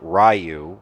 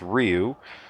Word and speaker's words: Ryu: And then you have Ryu and Ken. Of course, back then they pronounced it Ryu, which is why so many people don't say it properly. It's Ryu.